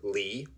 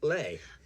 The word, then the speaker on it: Leigh: Also, for the record, from the website of Furman University, Leigh is pronounced either Lee or Lay.